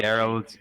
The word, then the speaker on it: Gerald: Gerald. Gerald with It's an with L. an L and a hard G.